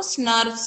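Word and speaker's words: snRNPs: Pronunciation उसको स्नर्व्स कहते हैं.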